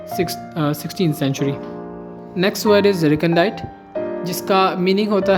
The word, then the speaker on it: recondite: As in recondite scholarship, a recondite term or phrase, it is also used to mean hidden from sight or concealed.